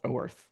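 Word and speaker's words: Oerth: Uh, I've heard it pronounced oorthth. Yeah, Gary. Uh Gary Gyax when he made it wanted it to sound like a New Jersey person saying o uh Okay.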